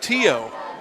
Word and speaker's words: Theo: It's actually pronounced Tio. He's an exchange student from Belgium.